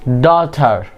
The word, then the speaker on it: daughter: daughter G will be silent.